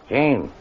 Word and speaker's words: Jean: look how do you spell the french name john j e a n and how do you pronounce that in english gene hey why you see what i mean it